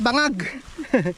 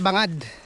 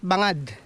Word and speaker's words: Bangad: bundok ng ano Mount Bangag hindi hindi Bangag Mount bangad yun Yun pala ang tamang pronunciation Mount bangad bangad yun ha remember that Saan papunta yan sa